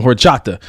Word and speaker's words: horchata: of that with some horchata we good go don't pronounce that H I'm black homie I don't want to unless until I'm adopted it's hor Chata we'll go with it